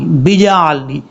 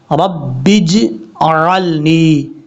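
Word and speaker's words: اجعلني: हालांकि यहाँ पर जीम के ऊपर सिर्फ जज़्म है। हमने इसको पढ़ना कैसे है? बा जा जीम ज़ेर बिज, रब्बिज अअलनी।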